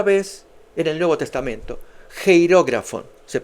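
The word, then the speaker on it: χειρόγραφον: Geirógrafo. Se pronuncia así.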